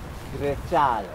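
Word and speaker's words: Grecale: Grecciale.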